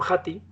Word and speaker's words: Hattie: Y si tuviéramos que avalarlo científicamente, yo diría que, fijaros, los metaanálisis de John Hattie se escribe H-A-T y latina E, Hattie.